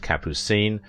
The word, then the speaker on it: Capucine: name kappucin during her modelling days the name pronounced capucine is french for the nasturtium flower but she